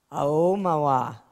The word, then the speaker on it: Aomawa: I get to a second chance at this one because I mispronounced her name before. Aomawa.